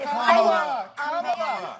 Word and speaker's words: Kamala: Let's start, Lefties, with this almighty group meltdown on CNN because Nancy Mace allegedly mispronounced Queen Kamala's name. Watch this demented carry-on. And right. Kamala Harris, if Kamala.